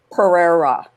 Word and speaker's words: Pereira: is Pereira, and am I pronouncing that correctly? Pretty close. Pereira. Yes? Pereira. Pereira. Like the cat. That's Indian, No, it's isn't it? Portuguese.